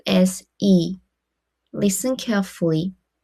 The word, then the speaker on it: 의: After consonant is pronounced as e.